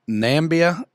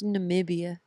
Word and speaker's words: Namibia: you were in nambia Namibia starts with an N not an M big guy that's why I said nambia that's not what you said it's Namibia but okay that's how you say it Namibia Namibia Namibia this makes